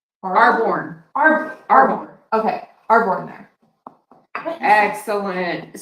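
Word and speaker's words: Arbonne: Because Kristen will have her Airborne? Arborn.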